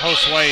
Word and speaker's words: Josue: You know, Josue is how you pronounce it.